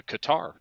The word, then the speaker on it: Qatar: I want to say the 5 terrorists that were released at that time were released into Qatar, or as they like to say, Qatar.